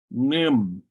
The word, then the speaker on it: nim: Oftentimes that A is completely dropped, so you don't hear it pronounced. Nim.